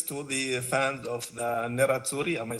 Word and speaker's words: Nerazzurri: First of all, congratulations to the fans of the Nerazzurri.